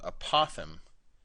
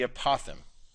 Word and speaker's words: apothem: We got this other vocab word called apotheme. I think that's how you say it. It's like a possum, but with a th, a lisp.